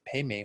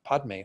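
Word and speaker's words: padme: pay me home well the Tibetans all say pay me home but it's spelled PA DME and so you might hear people saying well padmi home does it matter I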